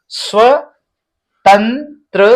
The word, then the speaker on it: स्वतंत्रता: आधा स व त और ऊपर देख रहे हैं बिंदी है इसका उच्चारण न हो रहा है तो आधा न त और त्र।